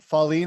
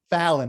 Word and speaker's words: Fallon: And then also, Pauline, I want to apologize if I'm pronounced that incorrectly. I apologize. Can you share with me what is it? The right way to pronounce it? It's Fallon. Fallon.